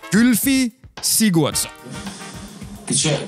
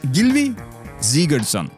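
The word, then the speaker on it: Gylfi Sigurðsson: is tough now you know of this guy gilfie sigurdsson uh sylvester stone comes on but no as my icelandic friend tells me it's gilvi siegertson a name like neymar it's written neymar and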